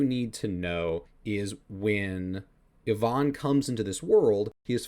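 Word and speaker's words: Иван: And so what Ivan's role is, or as his name is actually pronounced in Russian, Ivan.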